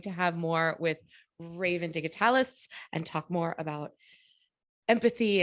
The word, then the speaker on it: Digitalis: I said it right that time, Digitalis.